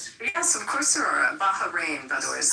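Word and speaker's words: Bahrain: Baja rain by the way is how you say it. But they're absolutely our allies for Beima. Can I answer please? It's Bahar. Baharin H.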